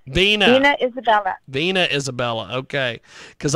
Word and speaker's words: Vena: to make sure i get your first name pronounced correctly is it veena or vena vina vina isabella vena isabella okay because i did not